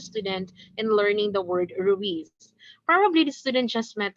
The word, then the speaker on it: Ruiz: The student pronounced the word Ruiz as ruse, and so his classmates and the teacher corrected immediately the student.